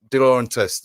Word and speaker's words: De Laurentiis: De Laurentiis. There we go. Yeah. Lovely pronunciation, because I would Di have butchered that.